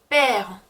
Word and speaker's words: père: 또 악성 그라브이 쓰이는 경우는 아버지라고 했을 때 père. 그래서 그 으 위에는 악성 그라브이 와요.